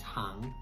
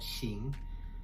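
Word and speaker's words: 行: So if you see those 2 characters together, you instantly know that that character means hang and not xing.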